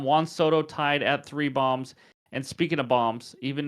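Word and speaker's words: Bohm: seven days um Juan stto tied at three bombs and speaking of bombs even though I was corrected and his name is pronounced bom which thank you for that correction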